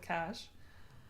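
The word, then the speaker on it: cache: a hard time about saying k instead of cash. C. Yeah, I sometimes say k instead of cash, especially if it's like in an IT context, like I'm clearing the k. Um I I pretty sure I'm wrong the cash.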